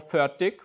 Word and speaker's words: Fertig: In Norwegian, it is pronounced and spelled a little bit different. It's more Fertig, if I pronounce it right.